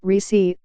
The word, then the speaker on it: Recy: Born on December 31, 1919, to a family of sharecroppers in Abbeville, in southeastern Alabama, Recy, pronounced Recy, Corbett found herself caring for 6 younger siblings after their mother died when she was 17.